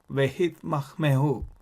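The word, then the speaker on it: והתמהמהו: So, ve, hit, mah, me, hu. Ve, hit, mah, me, hu is the word.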